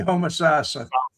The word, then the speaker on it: Homosassa: Homosasa. Okay, Homosassa. Yeah, the stress is on the third syllable.